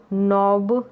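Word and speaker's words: knob: फिर देखिए मॉब, रॉब, sob, blob, glove, नॉब, स्लॉब और स्नोब। यहाँ पर देखिए के साइलेंट है, ठीक है, नॉब में, जो पहले मैंने आपको बताया है।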